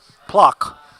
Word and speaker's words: Plock: You know, like, it rhymes with flock, as in of seagulls. Plock.